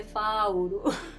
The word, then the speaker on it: Fauro: Even P in Kikuyu. So you find that when someone is known as Paul in Kikuyu, Paul, we say Fauro.